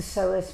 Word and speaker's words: psoas: Most of the time, it's the psoas muscle that gets involved in the shortening of the body on one side. Psoas, with a silent P, plays a huge role in the pelvis.